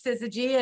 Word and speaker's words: syzygy: And usually, they ask me how it's pronounced and I tell them it's Syzygy, and it's an actual astrophysics term that means